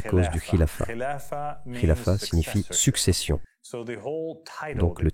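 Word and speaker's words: خلافة: C'est un mot arabe qui signifie khilafa. Khalifa est le mot anglais pour khilafa. C'est en fait une mauvaise prononciation de l'arabe.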